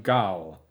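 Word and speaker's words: gaol: for contravening the terms of her release from Gaul how do you say that word gall g-a-o-l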